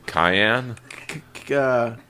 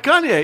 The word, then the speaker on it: Kanye: you say it yeah you're pronouncing it not correctly well that's why I miss Kanye all right Kanye yeah Kanye West as